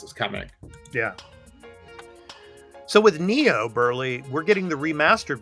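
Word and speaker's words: Nioh: So our PS4/PS5 game is Noah 2. Noah? Remastered. Noah? I don't know how you pronounce Neo. Burley. Neo. Yes, Neo. Neo. Neo 2. Yeah, Neo. It's kind of a Japanese name.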